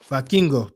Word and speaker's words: Vikingo: see Vicando Vik I don't pronounce how they pronounce Vikingo. Vikingo.